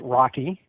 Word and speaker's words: RoCE: DMA over converged Ethernet or as is pronounced Rocky it provides a seamless